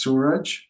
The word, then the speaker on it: Suraj: My name is Suraj. It rhymes with fudge, and it means the sun in Hindi.